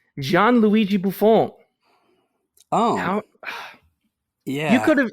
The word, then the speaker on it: Gianluigi Buffon: Oh, that's Gianluigi Buffon. I cannot believe you would say one of the greatest players to ever put gloves on. It's Gianluigi Buffon.